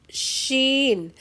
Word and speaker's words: Sheen: Next is sheen. Sheen. It sounds SH in English.